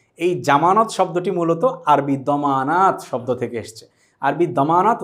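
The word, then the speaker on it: ضمان: তারপরও এটির আরবি কি গ্যারান্টি শব্দটির আরবি হচ্ছে দমান দমান শব্দের অর্থ হচ্ছে গ্যারান্টি তাহলে আমরা কোন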